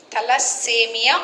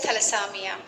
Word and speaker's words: thalassemia: go to the thalassamia thalassemia or samia let me go now let me go to the last one that is samia or you can pronounce it as thalasamiya fine thala samia it